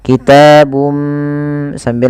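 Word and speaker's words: كِتَابٌ مِّنْ: Kemudian bum min aidillah. Ini ada bacaan idgham bighunah. Masukkan suara bunnya kepada mim dan diganti dan serta ditahan kitabum sambil ditahan dua harakat.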